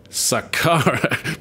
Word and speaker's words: Saqqara: There we go, I pronounced it right this time. Saqqara.